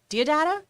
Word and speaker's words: Deodato: That's Mike Deodato? How do you say his last name? Deodato, yeah.